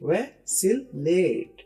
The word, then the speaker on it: vacillate: का लफज़ है फैसिलेट इसको प्रोनाउंस कैसे करेंगे देखिए वैसिलेट फैसिलेट फैसिलेट का मतलब